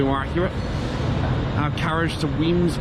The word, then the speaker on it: Wemyss: accurate our Carriage to weams Bay awaits weams spell w e m y SS yes they do spell it a bit weird around here but hey love Scotland